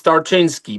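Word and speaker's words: Tarczyński: Is that right, Tinski? It's not It's not easy to pronounce it. It's Tartinsky.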